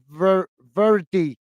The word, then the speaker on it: verde: The word is verde, is pronounced as verdi.